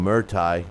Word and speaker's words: Muay Thai: and label Tony Bellew as a champion of Muay Thai.